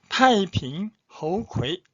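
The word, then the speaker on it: 太平猴魁: 세 번째 이름도 좀 특이한데 타이핑 허우ქვ이, 타이핑 허우ქვ이, 우리 한자 발음은 태평후계.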